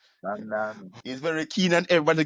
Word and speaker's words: Mamdani: I just want to make sure I don't mess up the pronunciation of his name. Get it right. That's what Mamdani. get it right. Mamdani.